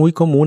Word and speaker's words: water: conozcas en tu país la t de Water en inglés americano se suele pronunciar como r water y la o de